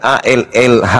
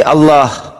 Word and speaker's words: Allah: Kalau Anda mengatakan ALLH berarti bacanya al. Tuhan kami Allah. Jangan kau hilangkan huruf A-nya.